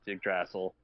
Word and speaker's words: Yggdrasil: No, Major, you obviously watch Screen Rant because he pronounces it incorrectly as well on Screen Rant. I love Ryan Airy, but it's Yggdrasil.